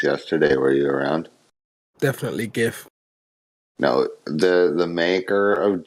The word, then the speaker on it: GIF: talked about this yesterday were you around definitely gif no the the maker of jiff came out and said it's pronounced jiff no one cares okay at least i'm pronouncing